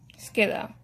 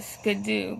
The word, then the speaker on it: Skiddo: Skiddo. I know someone who calls it Skidoo, but it's pronounced Skiddo.